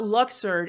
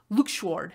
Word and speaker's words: Luxord: sorry I mispronounced it it's not luxer it's lward I can't stand it there's a in there get it right yeah the moment they